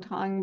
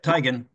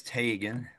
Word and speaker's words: Teigen: say your name wrong Tong but it's tigan isn't it Tagan yep tigan if you're if you're Norway it's Tagan but here it's tigan okay tigan um our